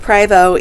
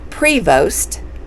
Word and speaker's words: Prevost: gray is way over there looking at his preo so many people pronounced privo incorrectly and honestly we did too cuz it looks like it's pronounced Prevost but it's PR it's French p r e